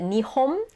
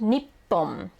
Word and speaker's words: 日本: So last episode we learned that Nihon is Japan. It is also pronounced Nippon. So I think in my general experience it's pronounced Nippon more often than Nihon.